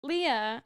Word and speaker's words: Leah: Okay, for Leah, I called her Laya the whole book, so I had to switch that up. Leah, I picked Deepika Padukone.